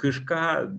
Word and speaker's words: кишка: Тобто, кішка – це Ukrainian cat, and кишка – this means intestine. So should the stress is on the second syllable, кишка.